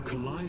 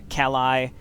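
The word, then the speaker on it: Khalai: You know, I feel like someone made a conscious decision, by the way, to have the voice actors pronounce Kalai, now it's Kalai. Whereas in the original game, they definitely had said Kalai.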